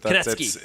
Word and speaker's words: Kunetzki: Southern Saskatchewan, is Kunetzki. Is that how I say your last name? You're pretty close, Kunetzki, but Kunetzki. it's pronounced many different ways depending on what area of the province I'm in.